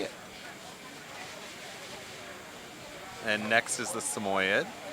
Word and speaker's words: Samoyed: and next is the samoyed or sammy yet i'm always torn about how to pronounce it so if someone out there wants to tell me i'll take it i say semi-ed but then i just also say sammy this is karida she's